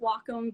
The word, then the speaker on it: Wacom: was using a um i call it a wacom tablet i know that it's technically pronounced wacom but i refuse um but i was using